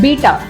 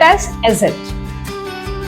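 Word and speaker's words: ß: इट it looks like बीटा बट we should not call it बीटा V should pronounce this alphabet एज एट एज इट and when you आर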